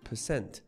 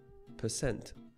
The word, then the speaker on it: percent: n t meaning for every 100 and is pronounced percent with the stress on the scent percent another way to express 25% is as one